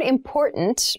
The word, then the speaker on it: important: important so the word important means something that we need to consider carefully yes the pronunciation of this word that first t is actually reduced it sounds more like a d in fast speech water is important to